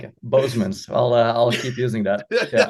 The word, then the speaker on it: Bosmans: Bosmans. The way you pronounce it, it's almost as if he's very related German. to. Yeah, it's almost as if he's related to Phil Boseman. Yeah. I like it. Bosmans.